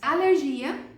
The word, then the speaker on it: alergia: Alergia, em espanhol se diz alergia. Alergia, a forte é o lé, não é o gia.